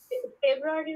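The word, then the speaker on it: Februar: হয় নাকি এরকম এপ্রিল ফেব্রুয়ারি উচ্চারণটা ফেব্রুয়ার ফেব্রুয়ার ফেব্রুয়ারি কি হবে ফেব্রুয়ার ফেব্রুয়ার ফেব্রুয়ারি আর ওই দেখেন শেষে কিন্তু আর এই টাইপের কোন ব্যাপার নাই ওয়াই টাই কিছু নাই এজন্য এটা হচ্ছে ফেব্রুয়ারি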